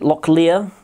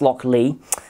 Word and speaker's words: Lochlea: could potentially trip you up it could be locklear it's not it is pronounced lock lee um because you know distillery names you can't